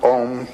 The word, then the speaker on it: Om: It's written A-U-M. You start in the back of the mouth, ah, and then oo, you fill the mouth, and closes at the mouth.